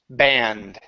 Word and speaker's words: band: band it's stretches okay that's an ah so when I say it my mouth goes wide ah B my tongue points down and it's ba band B Band yeah there